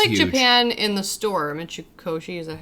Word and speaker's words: Mitsukoshi: Japan in the store, Mitsukoshi, is that how you say it? Yeah, Mitsukoshi.